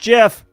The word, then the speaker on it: GIF: directory do a gif it's pronounced Jeff I know people are gonna fight me right now but it's pronounced Jeff all right here we